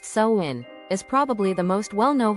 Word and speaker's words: Samhain: Samhain, pronounced Samhain, is probably the most well-known holiday in the Wiccan calendar.